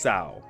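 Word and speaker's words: Cao: Now, the way that they spelled his name is C-A-O, and for anybody that's not in the Eastern Hemisphere of the world, that would be seen, or that would be pronounced as cow. However, in the actual pronunciation, and yes, this might be me being kind of like anal about this, but in the actual pronunciation, it's actually pronounced Sao, as in T-S-A-O. So it's Sao Day instead of Cow Day.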